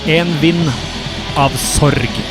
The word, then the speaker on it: En vind av sorg: Pronunciation of this song in correct Norwegian would be En vind av sorg.